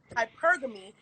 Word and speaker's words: hypergamy: professing that she practices he's saying it wrong so it's actually called hypergamy but forget i'm gonna